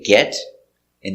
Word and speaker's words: get in: When you say get in, the T is pronounced with a D sound. So we say get in. Or in the past, got in. The T is pronounced like a D.